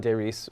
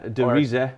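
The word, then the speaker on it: Der Riese: Like it's based on Deris, which was, you know, the... Yeah, Derise. Oh, sorry. I was corrected in Germany that I've been pronouncing it wrong all these years.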